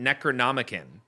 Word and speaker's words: Necronomicon: so zombie is saying in Evil Dead they pronounce it necronom not Necronomicon but Hollywood saying that in real Ghostbusters they